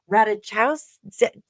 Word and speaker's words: Ratajkowski: Harry Styles is currently performing in Japan and was spotted smooching the ever gorgeous Emily Ratajkowski.